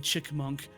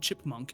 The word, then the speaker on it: chipmunk: Meanwhile, an X saying chickmunk grinded my gears. Chinkmunk? Chickmunk. Chickmunk. Yeah, instead of chipmunk, she said chickmunk.